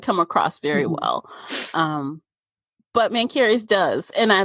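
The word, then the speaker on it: Mencheres: Yeah, I probably would have been using the CH differently, Mancharis or something like that. Oh, no, it's Mancarys.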